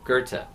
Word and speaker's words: Goethe: Looks like Goethe, but pronounced Goethe, like Gerta. No R, Goethe.